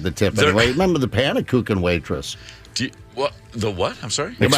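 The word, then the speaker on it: Pannekoeken: Pannekuchen.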